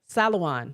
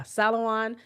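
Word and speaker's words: Salaün: Salawan. Yeah, Salawan had 16.6 had six rebounds, two assists, one steel.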